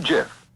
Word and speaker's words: GIF: which is Jif and they said it's pronounced like the peanut butter and we found there